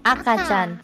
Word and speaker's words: 赤ちゃん: Akachan.